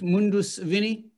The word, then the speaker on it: Mundus Vini: a bottle of each of the, am I pronouncing it correct, Mundus Vini?